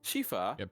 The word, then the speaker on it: Shifa: uh Sor sorry M what's the correct pronunciation of of your character shifa she shifa okay shifa pH is an F sound Shea Sha Sha could